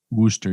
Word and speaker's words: Worcester: Worcester, yes.